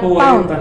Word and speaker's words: Pound: Poeta, se pronuncia Pound.